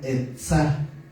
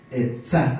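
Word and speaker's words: עצה: La palabra consejo en el hebreo es la palabra etzá, así como se oye, E-T-S-A, etzá, acento en la A.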